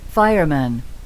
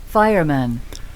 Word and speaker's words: fireman: fireman, fireman, 아까 postman처럼 이게 약화가 되죠. 그래서 man으로 발음이 되지 않아요.